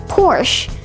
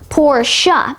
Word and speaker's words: Porsche: It's commonly mispronounced as Porsche, but it's actually pronounced Porsche.